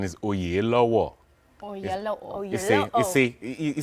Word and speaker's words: Oyelowo: how do you properly well the Nigerian correct pronunciation is all year low war you think you see you see that's why we need to leave it alone I guess do it again o year lower Oh yellow there are Nigerians all over the